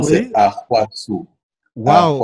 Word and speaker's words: Ahouassou: La bonne prononciation, c'est Oui. Ahwasu. Waouh. Ahwasu. C'est en plusieurs temps donc. Oui, c'est en plusieurs temps, mais si je te le fais court, c'est Ahwasu.